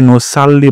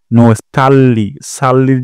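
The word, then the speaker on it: نصلي: জন্যই আমরা নামাজ পড়ি এখানে নুসাল্লি বলা যাবে না সাল্লির জায়গায় বলবো সল্লি এবং লিতে এক টান দিবসাল্লি আমরা নামাজ পড়ি নুসাল্লি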